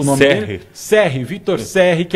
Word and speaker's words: Cerri: Para falar sobre esse assunto, nós vamos receber aqui o Victor, como que se pronuncia o nome dele? Serri, Victor Serri, que é o entrevistado de hoje, já está conosco aí.